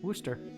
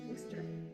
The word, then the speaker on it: Worcester: Why do we pronounce it Worcester sauce? Worcester sauce? Worcester. Worcester.